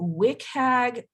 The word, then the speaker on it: WCAG: is important to catch everyone so on to wick hag 2.1 that is actually what people call it i was going to pronounce it wcag but apparently wick is the